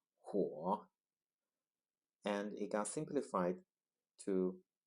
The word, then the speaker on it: 火: That is, of course, fire, 火, 火, 火, and it got simplified to such as this. It still keeps the shape of the ancient drawing, 火, 火, 火.